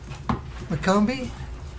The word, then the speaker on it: McCombie: McCombie? Is that pronounced correctly?